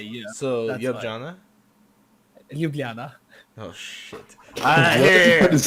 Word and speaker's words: Ljubljana: Ljubljana? It's Ljubljana, but okay. We That- say wait. for J, we say yeah. We don't say J. but Oh, we say yeah. so That's why. Ljubljana?